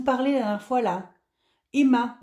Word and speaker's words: HEMA: la dernière fois là Emma alors c'est pas comme le prénom ça s'écrit Hema et du coup puisque